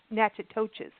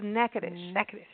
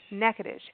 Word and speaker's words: Natchitoches: Now, Natchitoches, it is spelt Natchitoches. So when you look at it, it looks like Natchitoches. Yes. But we've learned it's Natchitoches. Natchitoches.